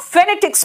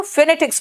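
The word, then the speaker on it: phonetics: देख ले, जो हम फेनेटिक्स में देख रहे हैं। बेटा देखो, फेनेटिक्स बोलते हैं, फोनेटिक्स नहीं बोलते।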